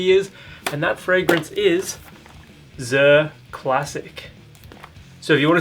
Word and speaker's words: Zirh: Zirh Classic, also just known as Zirh, rhymes with Sir.